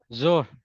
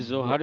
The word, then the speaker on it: Zohr: जोर जोर Sir, ZOHR जोर। H is silent.